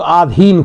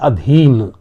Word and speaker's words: अधीन: आधीन गलत होता है, क्योंकि आप मेरे अधीन होता है। जो आधीन बड़े आ का उच्चारण कर देते हैं, इसलिए हम लिख भी गलत देते हैं। इसलिए आधीन ये अशुद्ध है और शुद्ध इसका रूप होता है अधीन।